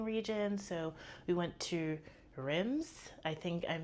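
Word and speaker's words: Reims: So we went to Rims. I think I'm mispronouncing that because I feel like they don't pronounce the M in there, but I went there,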